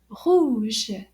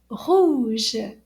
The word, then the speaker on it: rouge: Rouge. Can you give it a try? Rouge. And it's spelled R-O-U-G-E.